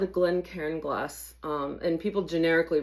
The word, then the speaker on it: Glencairn: And this is called a Glen Karen. That's spelled G L E N C A I R N.